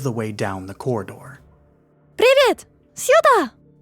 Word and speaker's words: Привет, сюда: "Привет, сюда!" (pronunciation - privet, syuda!, roll the “r” + Hi, over here!)